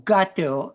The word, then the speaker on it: Qatar: And my answer in a nutshell was that Qatar or gate as it properly pronounced and Saudi Arabia bought